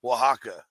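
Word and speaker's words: Oaxaca: have seen it but you probably have no idea that's how it's pronounced because it's like o ax o or something with yeah it's like really crazy spelling but it's waka waka hang on that's really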